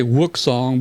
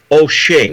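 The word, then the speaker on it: Wouxun: Dave you helped me I say whoop song but that ain't right so their website says it's pronounced O'Shea yeah I think it is Oshin but I don't know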